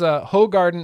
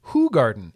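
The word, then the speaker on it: Hoegaarden: Eifer says Hogarden is pronounced Hoogarden.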